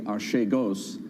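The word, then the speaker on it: Archegos: an hcs search that artego's capital or however we want to pronounce it in fact a greek colleague of ours told me yesterday it should be ashay ghost we'll leave it at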